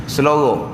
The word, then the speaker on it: selura: Jangan sebut ikut ejaan ni. Ejaan sing lang waw ra alif. Selura. Selora. Betul tak?